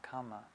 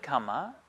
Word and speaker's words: kamma: that teaching was coming from now the word kama as you say we pronounce it kama in pali karma in sanskrit is it literally